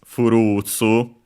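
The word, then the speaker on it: フルーツ: Funny enough, just like well, in Japanese also the word furutsu, with a long ru, it comes from fruit, the English word fruit. But clearly in pronunciation it's furutsu, and so actually would be fruits.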